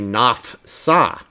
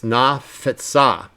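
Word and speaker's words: נָפְצָה: If you didn't say it correctly, you might say nafsa, nafsa, nafsa. But that's wrong. It's nafetsa, nafetsa.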